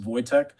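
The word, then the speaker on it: Wojtek: It's spelled WEC, but it's pronounced Voytech. It's a Polish word.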